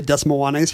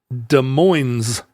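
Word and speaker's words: Des Moines: town here nearby called de Moes where we don't pronounce the S on the days but we do pronounce the S at the end in Iowa they don't pronounce either s they say de and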